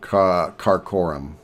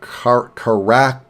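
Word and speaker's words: Karakorum: new spy I think I'll put him in Korum uh car Korum excuse me you really should have some idea how to pronounce the name of your own Capital but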